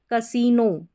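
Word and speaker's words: casino: देखिए यहाँ पर कुछ स्पेलिंग्स लिख रखी है, जैसे कि है कसीनो, ई का आई का उच्चारण ई है, लॉन्ग है, कसीनो।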